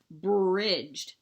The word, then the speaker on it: bridge: Bridged. Br-I-J. No D sound. It's silent. J sound at the end after a short vowel is D-G-E. Bridge, okay?